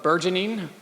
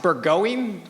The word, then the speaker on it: burgeoning: When I first decided on the operative adjective of burgeoning, I thought it was pronounced burgoing, which sounded a lot more fun at first.